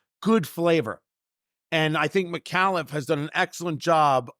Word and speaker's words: Micallef: about malli I'd seen malli around I didn't know that was actually how you pronounce it m i c a l l e f i mean admittedly that's